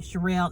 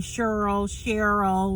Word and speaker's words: Sherelle: And particularly because this job that I have, nobody could pronounce Sherelle. Everybody called me Cheryl, Sharon.